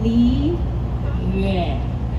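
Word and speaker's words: Liyue: Okay, repeat after me, Li Yue. And I was like, oh, okay, Li Yue, right?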